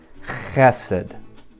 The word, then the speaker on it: chesed: And remember, we're reading this way, so we pronounce the word d, chesed.